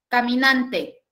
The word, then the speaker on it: caminante: Por ejemplo, si yo digo la palabra caminante. Caminante. ¿Sí? ¿En cuántas sílabas la puedo segmentar? Cuatro, muy bien. Caminante. ¿Dónde lleva la mayor fuerza de voz? En nan, correcto.